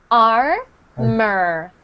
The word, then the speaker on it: armor: So armor. Armor. Armor. And I know it looks like more. It looks like more, Yeah. but it's actually pronounced mer. Armor.